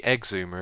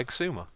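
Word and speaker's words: Xisuma: is quite funny cuz when some people say my name it does sound like Zuma but you could call me exumer if you wanted to or exumer anyway monkey Farm's tree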